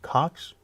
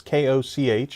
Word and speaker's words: Koch: Cox? It's Koch.